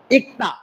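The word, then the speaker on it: 읽다: ই ল ক দা, ইকতা উচ্চারণ হবে ক, ল উচ্চারণ হবে না।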